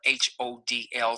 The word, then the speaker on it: HODL: For my folks out there that love the buy and hold strategy, in this marketplace, they even spell it HODL. Some people call it hodl or hodl.